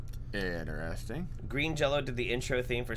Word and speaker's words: Green Jelly: They just go by, everybody calls them Green Jello and they say Green Jello, but it's spelled Green Jelly.